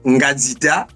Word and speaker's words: Ngita: nom en entié exactement vous avez bien prononcé mon nom c'est ngita mais j'ai deux prénoms